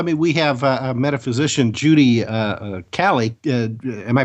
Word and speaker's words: Cali: Well, I mean, we have Metaphysician Judy Cali. Am I pronouncing that right, Judy? Yes, you Cali? are. All right. Well, it's a coin toss between Cali or Kaylee. So it's Cali.